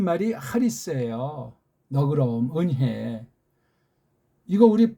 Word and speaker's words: 은혜: 아니라 은혜 은혜 은혜 은혜 입술에 힘 주지 말고 은혜 그렇게 발음하셔야 돼요 앞으로 이걸 또 어떤